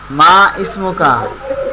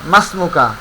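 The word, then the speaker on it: ما اسمك: এখানে মা ইসমুকা, আমরা এটা সাধারণত এইভাবে পড়েছি, কিন্তু এখানে উচ্চারণটা হবে মাসমুকা। ইসমুন, এটা শব্দের শুরুতে অন্য কোনো শব্দ আসলে তখন ইসমুনের হামজাটা উচ্চারণে আসবে না, কিন্তু লেখায় আসবে।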